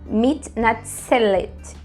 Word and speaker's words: מתנצלת: Aqui eu já vou pronunciar o L com um som de vogal, né? Então ele não vai ficar puro lá no céu da boca. Ele vai ficar מתנצלת. Let.